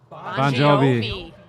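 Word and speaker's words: Bongiovi: Bon Jovi. G-O-V. G-I-O-V-I. Pronounced Bon Jovi.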